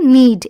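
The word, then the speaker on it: knead: মনে রাখবেন এই শব্দটির রাইট প্রনাউন্সিয়েশন হবে নিড, এখানে কে সাইলেন্ট রয়েছে।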